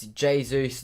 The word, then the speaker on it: Jesus: tomorrow would be nice it's jesus not jesus i'm from england so it's jesus it is spelt the way you said it's not but so i say it how it is to be honest but i know it's meant to be said jesus february is not the